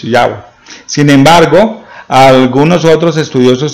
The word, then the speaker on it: Yahweh: Algunos eruditos concuerdan que la pronunciación aproximada al original es Yahweh.